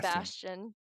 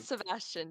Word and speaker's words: Bastion: Bastion. Ashton. Not Sebastian, just Bastion. All right. Bastion. Yeah, basically. That okay. works. That works. So like the turret, not the hot devil.